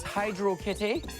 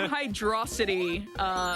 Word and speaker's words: Hydrocity: Just wondering, can you confirm that the final definitive pronunciation is Hydro Kitty? Because it totally is, no question. I'm a firm Hydrocity stan, by the way. No, it's Hydro City.